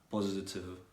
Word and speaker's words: positive: Intensive, positive. In all these cases, you need to pronounce like the V as a V.